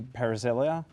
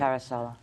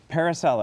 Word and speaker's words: Parisella: own businesses and my next guest is parisel did I pronounce it even half right parisella parisella that's cool no wor beautiful no wor